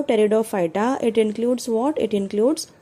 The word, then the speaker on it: टेरिडोफाइटा: vascular plants में आएगा टेरिडोफाइटा इसमें जो पी है the first letter is पी पी is silent over here so टेरिडोफाइटा it includes what it